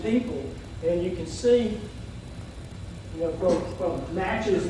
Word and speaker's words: Natchez: and you can see Natchez Mississippi which is an English pronunciation of not you and you know all